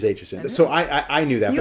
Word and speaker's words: Aitchison: So okay, proper pronunciation of your last name. It is Aitchison.